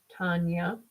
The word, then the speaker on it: Tanya: I have a cousin, Tanya, pronounced Tonya.